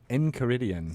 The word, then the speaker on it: Enchiridion: And how do you pronounce that section? So it's called Volos in Caridian. Enchiridion.